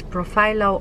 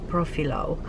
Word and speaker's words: Profhilo: And it's called, I'm not completely sure because people pronounce it two different ways, it's Profhilo or Profhilo. And it's spelled PROPHILO.